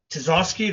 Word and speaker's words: Tisoskey: Um I'm sitting here today with uh Todd uh Tazoski. Did I pronounce that right?